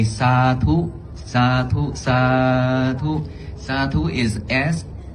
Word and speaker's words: Sadhu: Then after the blessing, our tradition needs to say Sadhu, Sadhu, Sadhu. Sadhu is S-A-D-H-U. That's what it's spelled, S-A-D-H-U.